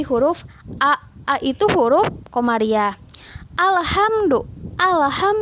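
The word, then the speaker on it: الحمد: Alhamdu bukan ahamdu tapi alhamdu.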